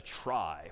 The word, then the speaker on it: trie: most part and that's known as a try which is somehow short for retrieval even though that's pronounced somewhat differently but try just means